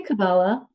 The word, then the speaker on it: Kabbalah: Because I know it can be pronounced. I say Kabbalah. Yeah. Kabbalah.